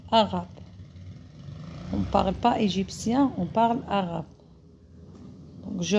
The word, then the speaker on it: égyptien: Un homme, il est égyptien. T-I-E-N, on le prononce sien. C'est pas chien, c'est l'anglais, non, sien.